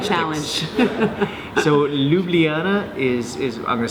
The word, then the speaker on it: Ljubljana: Okay, so how do you pronounce the name of the city here, the capital? Ljubljana.